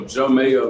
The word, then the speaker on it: Jeaux Mayo: long you've been making music for yeah so joe mayo the spelling of joe is a j-e-a-u-x which